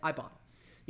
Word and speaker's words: Ibotta: back for it with Ibotta or Ibotta um I forget how they want us to pronounce it but it's i-b-o-t-t-a that's I bought it you can earn cash